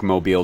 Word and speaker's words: Mobile: Yeah, it's pronounced Mobile. It's not Mobile, Alabama.